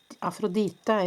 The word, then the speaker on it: Aphrodite: Okay, I'm hearing angel of love and I'm also hearing Aphrod Aphrod Aphrodita is how we pronounce it in Norwegian. Aphrodite.